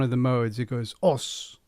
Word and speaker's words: Osu: I've got Osu Tatakae Ouendan. It's Os Tatakae Ouendan.